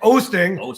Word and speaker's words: Oosting: Oh, I keep mispronouncing your damn name. Nick Oosting.